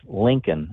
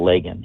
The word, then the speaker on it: Laken: The first time he mentions her name ever, he says Lincoln instead of Lagan.